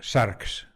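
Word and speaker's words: σάρξ: de la carne porque carne en griego se pronuncia sharks de ahí sarcófago no fagos es comer aquello que se come el cuerpo el cuerpo o Carne no cuando decimos cuando traducimos sars de manera literal como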